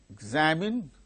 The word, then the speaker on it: examine: In the word examine, the second syllable gains stress.